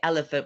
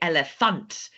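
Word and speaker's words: Elefant: to English but sometimes the pronunciation is a little bit different like we don't say panda we say panda we don't say elephant we say elephant we don't say giraffe we say giraff so just always remember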